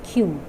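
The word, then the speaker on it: queue: In this word there are 5 letters, but we have to pronounce the sound of only one letter, that is Q. Rest of the 4 letters are silent.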